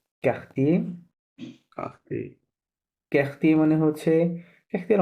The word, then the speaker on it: quartier: না, এই যে ইউটা আছে এটা সাইলেন্ট আছে, হ্যাঁ? এটা Oh, কাহতিয়ে লিভ quartier.